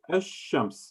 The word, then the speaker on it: الشمس: Alif lam, sheen, and we place the shadda on top of the sheen, and we pronounce it ash-shams. Notice ash-shams. I'm saying the sheen twice.